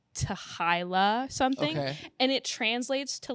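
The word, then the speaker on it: t'hy'la: Some people pronounce it like to hila something and it translates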